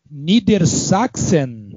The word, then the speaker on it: Niedersachsen: É seleção de Niedersachsen. É assim que pronuncia, Marcelo? Isso, essa seleção de Niedersachsen, que é a Baixa Saxônia.